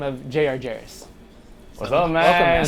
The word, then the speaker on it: Jarris: But he goes by the name of Jarris.